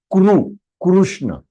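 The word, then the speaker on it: Kṛṣṇa: So it is Kru, Krishna. It is not Krishna. If it is Krishna, it is not, you are not pronouncing it in Sanskrit. Either you are pronouncing it in Hindi or in Marathi or in Gujarati or any other language, but not Sanskritam. If it is Sanskritam, it has to be Kuru.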